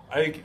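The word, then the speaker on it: Aceh: As I mentioned earlier, he talked about the Ike province. I think I'm pronouncing that correctly. It's AECH, and it is the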